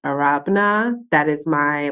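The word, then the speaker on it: Arabena: underscore uh a-r-a-b-e-n-a in if you're wondering it's pronounced arabana that is my like traditional African name it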